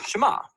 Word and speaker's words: Shema: is here or listen which in Hebrew is pronounced Shema that's where the prayer